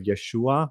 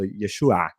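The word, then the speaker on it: ישוע: The letter the letter ain at the end of Yeshua, you know, we say Yeshua, but in biblical Hebrew that makes a sound like so Yeshua.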